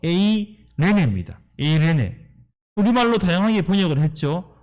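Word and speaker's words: εἰρήνη: 이 화평이라는 단어는요 헬라어 발음으로 에이레네입니다.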